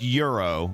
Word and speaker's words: gyro: actually spelled um g-y-r-o it's mediterranean so it's pronounced euro like what you typed but it's spelled gyro thank you t-bomb you